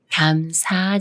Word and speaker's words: 감사: 김밥이 남 말은 감사와 감사 중에 어떻게 읽어 할까요 미음 받침이 초성 시옷 만났지만 쌍 시옷이 아닌 시옷 소리 그대로 읽어서 감사라고 읽어요 감사 이 말은 밤중이